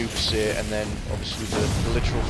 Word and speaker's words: Vénus Baissé: were in game, obviously you would mistakenly try and read her first name as Venus, but it's actually meant to be pronounced as Vénus, so it's meant to be Vénus Baissé, and then obviously the